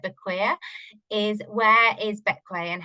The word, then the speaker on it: Bequia: other than how to pronounce it, it's actually pronounced Bequia, despite being spelt more like Bequia, is where is Bequia and how do you get there?